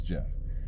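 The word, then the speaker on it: Geoff: I think it's Jeff it's spelled Geo f f but I think it's Jeff uh he's got plenty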